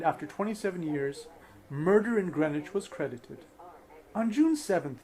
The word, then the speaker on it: Greenwich: published murder in greenwich i'm saying greenwich because everybody would make fun of me if i say green witch but why do they